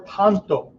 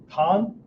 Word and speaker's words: 短刀: Tanto, okay, pronounced like you have an H on the end of it, right? Tan, right? It's not tan, right? That's not ton, right? Tanto, almost like you're saying the word toe.